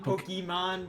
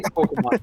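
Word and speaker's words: Pokémon: always pronounces it as Pokemon, and it gets me mad every single time because it's Pokemon. There's no Y in Yeah. the name. It's not Pokey.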